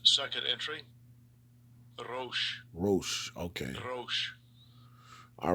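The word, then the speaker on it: ראש: The word Gaul means, in the Hebrew, Strong's H it's pronounced 7219. Ramath Negev. damn, it don't look like And it's second entry, Rosh.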